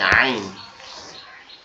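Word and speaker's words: ع: হাটা উচ্চারণ হয়েছিল কঠিন আওয়াজে এখান থেকে আইনটা উচ্চারণ হবে একই জায়গা থেকে আইনের আওয়াজটা কেমন হবে ওই হা এর মত এরকম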